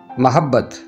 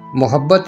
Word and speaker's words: محبت: اور وضاحت۔ پہلا لفظ محبت۔ عربی زبان کے اس لفظ کا درست تلفظ محبت نہیں بلکہ محبت ہے۔ یہ لفظ کتاب مقدس